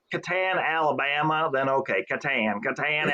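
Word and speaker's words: Catan: that yeah that's right so how do you pronounce clouse twers the settlers of oh I would definitely say Katan for sure without a doubt you know I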